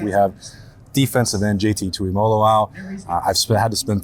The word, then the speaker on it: Tuimoloau: We have defensive end JT Tuimoloau. I've had to spend 3 years getting to make sure I can get the pronunciation all right.